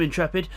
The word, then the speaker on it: Intrepid: And then we've got Neil Farmack in 5th, Intrepid in 6th, that is the actual way you say his name, Intrepid.